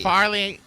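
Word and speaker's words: Fairleigh: yeah I was gonna say how do you pronounce that fairly or Farley Farley yeah I've heard people say fair dick as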